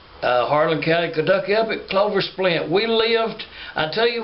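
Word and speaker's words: Closplint: coal mining community called Clover Splint. But they spell that C-L-O-S-P-L-I-N-T. But we always called it Clover Splint.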